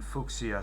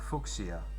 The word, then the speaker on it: Fuchsia: We can get a Goldeen or a Poliwag in Fuchsia City. Fuchsia. I always pronounce it like Fuchsia.